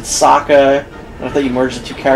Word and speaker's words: Sokka: I felt rage as soon as they pronounced Sokka's name wrong. Sokka. Sokka. You pronounce everyone's name in that wrong.